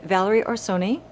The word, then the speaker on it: Valerie Orsoni: today this one's really nice we're here with valerie or sony i just pronounced that right it's perfect yay i did